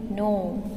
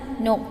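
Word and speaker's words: know: K-N-O-W, no. S-I-G-N-E-D, signed. Okay, the word K-N-O-W has the letter K in it, but it is pronounced as no. The letter K is silent in the word no.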